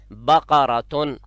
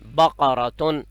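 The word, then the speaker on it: بقرةً: پاس ہے، اس کو صحیح دوبارہ تلفظ سنیے، بقراتن، قاف کاف نہیں ہے، بقراتن۔ اور یہ جو گول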